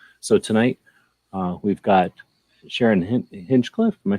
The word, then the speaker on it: Hinchcliffe: So tonight we've got Sharyn Hinchcliffe. Am I saying it right? Yeah, it's Hinchcliffe.